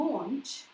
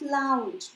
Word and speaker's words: launch: And again, people often make mistakes in pronunciation of this word, so we will say to launch, okay, it is not launch, be careful.